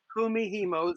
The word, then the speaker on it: kumihimo: that i can't say kumihimo okay because because we were pronouncing it a different way while we were out there it is kumihimo spill k-u-m-i-h-i-m-o it